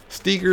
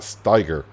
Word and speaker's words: Steiger: I would pronounce it Steger, not Steiger. Just because the E's before the I, so I think I would pronounce the E more than the I, so Steger.